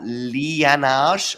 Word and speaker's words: Liyanage: I'm here with Liyanage.